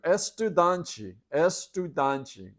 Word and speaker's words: estudante: It may not sound like it, but estudante, you can kind of hear student in the middle of that.